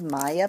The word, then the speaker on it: Maja: is Maya paper H this is called Maya paper even though it's it's spelled Maja it's Maya Pap can you open